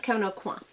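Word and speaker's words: Kevyn Aucoin: Not Kevin O'Quan. You don't pronounce the N. I heard him say his own name. He knows his own name better than we do. It's Kevin O'Quan.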